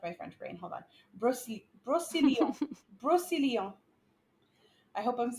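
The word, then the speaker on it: Brocéliande: Brocelion. Brocelion. I hope I'm So saying that is it right. like the Brosseland Forest? It is that, but French Okay. pronounced.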